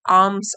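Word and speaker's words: alms: and bagged for आर्म्स यहां पे L silent है आर्म्स आर्म्स मतलब भिक्षा तो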